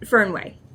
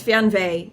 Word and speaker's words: Fernweh: It is Fernweh in German. I don't know if I can do that raspy. Let's see. Fernweh.